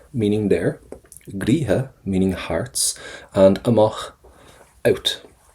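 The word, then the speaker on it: gcroíthe: A gríthe, don't pronounce the TH.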